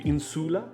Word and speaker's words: insula: the ongoing correction right so that's referred to as a short u insula good uh pronunciation